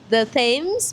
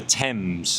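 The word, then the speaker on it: Thames: I used to pronounce wrong. I say the themes but actually it should be the temps.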